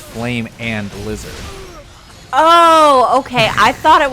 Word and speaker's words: Flamin' Lizard: It's not flaming lizard. It's flame and lizard.